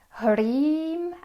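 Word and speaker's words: ह्रीं: Harim with a long I, which we pronounce in Sanskrit E, like two E's in English. E, and then the sound like M.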